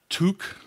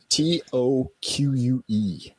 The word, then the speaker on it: toque: And it's called a toque, is that toque. Right? Toque, T-O-Q-U-E. Seemed like it should be pronounced toque.